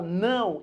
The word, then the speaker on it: não: Quando você fala não, embora apareça um O, na verdade isso daqui é um U. Você pronuncia como U.